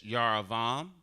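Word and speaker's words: Jeroboam: They spell it with a J, but this would be Yaravo. I know I can't make it bigger. This right here is Yaravam, who is the king of Israel.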